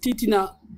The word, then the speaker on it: Titina: Ah, C'était une combattante auprès de Amical Cabral pour le Titina, comme ça se prononce.